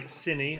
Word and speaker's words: Cinny: Sony has finished. 146 flat. Oh, very good time. clean. GG. Sony is a. Oh, sorry, Cinny. I've got to remember to say it right. Always mispronounced it.